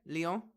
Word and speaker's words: Lyon: Lyon?